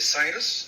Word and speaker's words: Citus: I was looking at the websites really quick, Robinland, and is it Citus? Is that how you pronounce it?